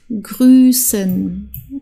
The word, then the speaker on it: grüßen: Okay, also man sagt nicht Fuß zum Beispiel, sondern Fuß, das wird länger ausgesprochen, der Vokal. Draußen, grüßen, okay?